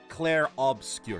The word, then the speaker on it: Obscur: I think it's just pronouncing it like you pronounce the word obscure or maybe just cla obscure. Yeah, I think you you more emphasize the O.